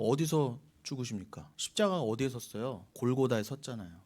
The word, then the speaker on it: 골고다: 골고다에 섰잖아요. 골고다의 뜻이 뭐예요? 굴굴타. 굴굴타는 히브리어고 그것의 아람어가 골고사예요. 골고다. 근데 골고다를 그냥 그대로 헬라어로 음역한 게 골고사예요. 그 다가 정확히는 에스타 그 번데기 발음이니까 골고사.